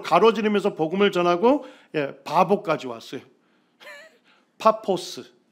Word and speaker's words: 파포스: 파포스, 발음을 하면 파포스까지 왔는데 여기가 누가 거주하는 지역입니까?